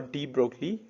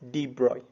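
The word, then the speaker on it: de Broglie: particles in motion and are called mata or d broccoli waves see you don't pronounce it d broccoli we will pronounce it as debroy fine so the waves associated with the material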